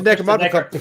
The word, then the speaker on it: Necronomicon: Like, you know, I see them more like there's the Necronomicon. Yeah, the Necrocom. Necronomicon. Necronomicon.